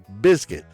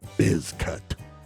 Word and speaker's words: Bizcutt: So, and my name is Bizcutt. That's pronounced biscuit. Yes, just like the can of biscuits. It's biscuit. So, stop calling me Bizcutt.